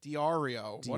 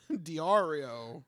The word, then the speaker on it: Diario: 20 years old okay Diario AIO it's like you want it to be Mario but like you wanted so many syllables before it Diario Diario yeah so what